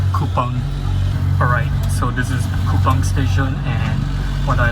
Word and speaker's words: Kupang: Alright, so this is Kupang station, what I like is that its name sounds punny, as it sounds like the word "coupon".